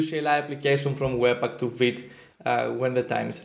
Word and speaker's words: Vite: I was a child, my mom used to say Vite, when she wanted me to do something fast. And I doubt she knew that that is fast in French, but the way she said it and the sound of it, it really sounds like a Vite, like be quick, let's go.